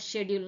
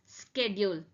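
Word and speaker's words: schedule: Time டேபிளுக்கு இன்னொரு வார்த்தை என்னன்னு கேட்டா நம்ம ஷெட்யூல்னு சொல்லுவோம். But this is typically pronounced as ஸ்கெட்யூல். This is ஸ்கெட்யூல். American இங்கிலீஷ்ல இதை ஸ்கெட்யூல்னு சொல்லுவாங்க. பட் நம்மளுடைய கான்வர்சேஷன்ல பிரிட்டிஷ் இங்கிலீஷ்ல யூஸ்வலா இது எப்படி ப்ரொனவுன்ஸ் பண்றோம்னா ஷெட்யூல்னு ப்ரொனவுன்ஸ் பண்றோம்.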